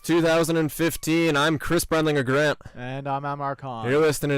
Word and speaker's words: EH: You're listening to the A and Cbg Show. Yeah, it's pronounced A, not the EH and Cbg Show, as one of our classmates so kindly brought to our attention.